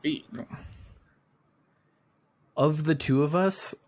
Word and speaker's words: Fi: well I'm sorry well fee from Skyward Sword is pronounced fee of the two of